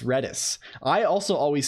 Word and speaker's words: Redis: right FAQ FAQ pronunciation red is pronounced like the word red plus the word kiss without the K the main Dev behind